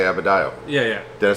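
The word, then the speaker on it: Adebayo: was thinking how am i going to say abedio yeah yeah did i say it right you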